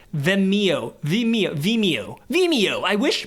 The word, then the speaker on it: Vimeo: And the reason why I wish a company like Vimeo Vimeo, how do you pronounce this? VMO. No, that's Oh my gosh. Vimeo.